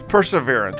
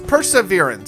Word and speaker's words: perseverance: is the way to perseverance perseverance I always say that word wrong which means I can't spell it because there's no R in there it's perseverance so if you go up